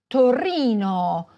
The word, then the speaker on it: Torino: In Italian the stress most often falls on the penultimate, or second-to-last, syllable: firENze. saLERno. toRIno. orvIEto. aBRUzzo. However, some words are stressed on the third-to-last syllable, such as MAntova, GEnova, Udine.